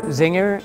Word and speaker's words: Czinger: zinger is basically our founder Kevin singers last name so it is pronounced where is and he spelled where is